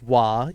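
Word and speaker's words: は: mark the subject but it's pronounced wah even though it is the letter ha and then you did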